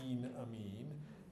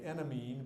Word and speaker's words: enamine: That first E is long, enamine. It's actually spelled without this E, but I wrote it that way first so you can know how to pronounce it. You don't want to say enamine because that sounds like you're talking either about your enemy or a medical procedure or perhaps a Blink-182 album title or something.